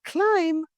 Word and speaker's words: climb: It's climb, not climb.